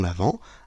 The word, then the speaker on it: l'Avent: à cause de l'homonymie l'avant et avant ça se prononce pareil mais ça ne s'écrit pas pareil avant Noël à a V a S mais nous nous fêtons l'avant a V e n